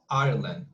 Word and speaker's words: Ireland: because i'm not sure ireland okay so that's our land it's just it's two it's two it's two and i'm